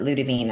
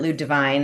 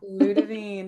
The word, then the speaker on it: Ludivine: And so it's a French name and so that's in France they pronounce it Ludavine. I was pronouncing it Lud Divine as my ever American self for a while and then I heard someone actually from France say it.